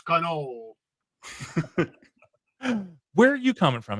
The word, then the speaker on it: cannoli: You're not supposed to pronounce the I. It's cannoli.